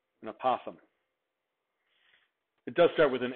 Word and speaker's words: apothem: I use apothem because I think it sounds like opossum, but with a lisp, an apothem.